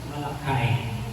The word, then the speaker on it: Malachi: have the first reading, in English, of course, in the way that it is being pronounced, it is always Malachi. Malachi.